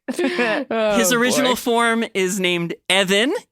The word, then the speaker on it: Even: His original form is named Evan. It's spelled even. It's pronounced Evan.